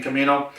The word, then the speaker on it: Camino: I want to make sure I'm pronouncing that right. I'm thinking Camaro, but no, it's Camino, C-A-M-I-N-O.